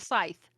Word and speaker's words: scythe: i don't know how to say this words s-c-y-t-h-e it's like that whatever this thing is i always called him that's a snicker it is a sickle it's a scythe oh scythe yeah that's what this word is